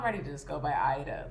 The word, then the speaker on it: Aida: not but um yeah so my name is actually pronounced like it's arabic so it's pronounced aida but that's a whole lot of a lot for americans to say so i've gone by aida in the past but now i'm ready